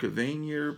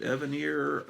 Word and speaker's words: Evanier: I always pronounce it Mark Evanier, but everyone's pronouncing it Evanier. I guess I hear so many people pronounce it that way. I guess that's the right way.